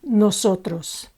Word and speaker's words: nosotros: no tilde benga Nosotros Nosotros again ends with an s the penultimate syllable is accentuated so all fine hair Nosotros reyno ends with a